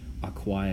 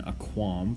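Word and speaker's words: aquā: for the accusative singular, and then aqua with a long A. You say that twice as long as a short A for the ablative, and aqua with a short A again for the vocative, because it's following the rule.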